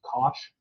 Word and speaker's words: cosh: cosines and hyperbolic cosines, which people pronounce cosh, because you write it like this, which, you know, this one is much more understandable to me.